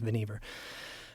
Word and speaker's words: Vannevar: But it's Vannevar Bush. Bush himself says that it rhymes with beaver, his name, so it's Vannevar.